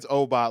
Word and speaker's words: Obot: I think it's Obot, like robot, but without the R.